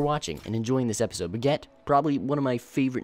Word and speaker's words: Brigitte: You know, it's definitely not Baguette, but it's Brigitte, or Bridget.